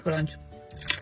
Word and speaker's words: Crunch: Re crunch. Crunch. Crunch. Crunch. Igual, Dani. Se pronuncia crunch. Crunch. Con A.